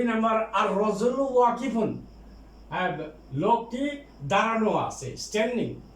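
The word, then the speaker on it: الرجل: আর নাজমু তারপরে রজুলুন, আর রজুলু এই যে লামের উচ্চারণ হবে না।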